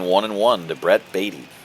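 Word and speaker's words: Baty: and one to Brett batty I know his name is pronounced batty but I mean come on you looking for baddy he's baddy I mean come on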